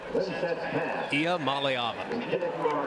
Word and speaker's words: Iamaleava: And can you pronounce Nico's name for me again? Nico Iamaleava. Iamaleava.